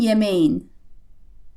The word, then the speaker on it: yemeğin: This ends in the letter K, so this is going to become a soft G again. Senin yemeğin.